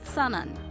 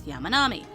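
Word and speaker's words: 山南: With the derived pronunciation, it's sanan. With the original pronunciation, it's Yamanami. It can be read both ways.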